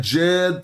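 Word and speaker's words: djed: Yes, S DJ R, but you just put a capital D and it's pronounced as a J. When we say Jed pillar, is this it?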